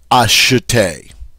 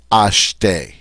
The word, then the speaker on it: acheter: In other words, listen, I don't say acheter because this E is mute. I say acheter. All right? So this E in the next to the last syllable is mute, silent.